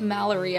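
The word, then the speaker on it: Melari: him if you asked it's pronounced mallerie actually common mistake oh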